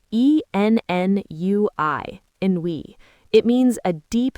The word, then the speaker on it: ennui: There's a wonderful French word for this feeling, ennui. It's spelled E-N-N-U-I, ennui.